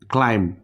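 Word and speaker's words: climb: আগে আছে আমরা পড়তেছি ক্লাইম্ব ক্লাইম্ব এখানে কিন্তু আমরা বিটাকে সাইলেন্ট করে দিয়েছি সো এখানে কিছু এক্সেপশন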